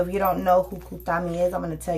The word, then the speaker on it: Kuthumi: Kuthumi, pronounced Kuthumi, is an ascended master who appears to be well-dressed Indian, who appears to be a well-dressed Indian man with a golden aura.